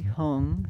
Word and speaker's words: Hung: Okay, you're saying it perfectly, hung, so no worries there. It does sound different from om. Sometimes we use the om also, but that's om. This is hung.